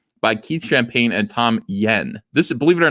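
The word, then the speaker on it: Nguyen: Keith champagne and Tom yen this is believe it or not all of this you can just forget these three letters it's pronounced yen so what is this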